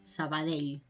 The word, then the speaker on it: Sabadell: también es un sonido, cuando lo encontramos al final de una palabra, para la gente que no está acostumbrada a hablar catalán, pues les cuesta un poquito hacer, ¿no? Suelen confundir esta L con una I, Sabadell, ¿no? Y no sería correcto, Sabadell.